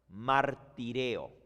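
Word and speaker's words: μαρτυρέω: La palabra testimonio en griego, dar testimonio, se dice martireo.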